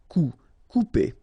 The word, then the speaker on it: couper: Couper. Okay, when you combine this O and U together, you will get the sound OU. Okay, couper.